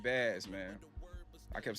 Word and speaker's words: Bas: P and I realized I've been saying the name wrong, too. P and Bas, man. I kept saying Boss.